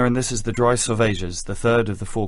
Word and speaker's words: Salvages: Salvages is pronounced to rhyme with assuages.